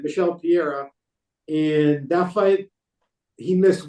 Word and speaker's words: Michel Pereira: Michel Pereira, and that fight he missed weight.